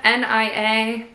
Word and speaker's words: Nia: This is Nia, N-I-A. I'm not sure. We'll go with Nia because it rhymes with Mia.